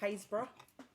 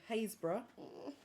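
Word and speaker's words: Happisburgh: person reading it there's a place in norfolk called haysbruh so hazebra is spelt h-a-p-p-i-s perhaps b-r-v-r-u-g-h it's happy spo when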